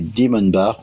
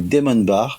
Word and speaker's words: Demonbar: Je reçois donc cette fois-ci Karine et Christophe du Demon Bar ou Demon Bar. Je le prononce à l'anglaise, eux à la française. C'est sûrement eux qui ont raison vu que c'est leur projet.